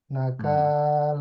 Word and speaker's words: نكال: এটা আইনের উচ্চারণটা একটু সফট হবে। আলা। أعلى হুম। فأخذه الله كنال الآخرة والأولى আবার إن প্রথম থেকে পড়েন। ফা থেকে পড়েন। فأخذه الله نكال الآخرة والأولى না কালা, না نكال কালা, নট ক।